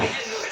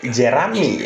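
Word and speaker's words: Jeramie: Mari kita rating sesudah Jerami. nonton. Setelah gue nonton berulang-ulang, ternyata namanya Jeremy ya.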